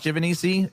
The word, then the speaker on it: Giovanisci: There's so many different ways to pronounce it that I've stuck with Giovanisci as the way that I would like to pronounce it, because it's, I guess, but there's other more accurate ways to say it.